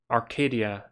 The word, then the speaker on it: Arcadia: 20s, and Greta says it's pronounced Arcadia, as in Penny Arcade.